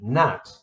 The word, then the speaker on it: gnat: There's another one here, silent G again, gnat.